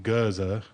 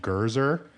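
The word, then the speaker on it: Gurzur: popular, was G-U-R-Z-U-R, but they were spelling it out for languages that are non-rhotic, so that don't pronounce the R's. But there are some people who just saw it phonetically and weren't thinking Gurza, like, which is how you would say it, in like a British accent, which is non-rhotic. They were saying Gurzer.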